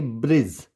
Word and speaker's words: bridge: डी is silent before ji. Simple सा rule है कि अगर आपको जी से पहले डी दिखे वर्ड में तो क्या हो जाएगा, डी साइलेंट हो जाएगा। जैसे BRIDGE, तो इसको पढ़ेंगे ब्रिज।